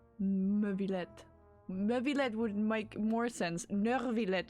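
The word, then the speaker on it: Neuvillette: Nurvlet is how they pronounce it with a very hard R in the middle.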